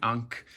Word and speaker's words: ankh: If you don't know, this symbol is the Ankh or the Ankh, as some pronounce it.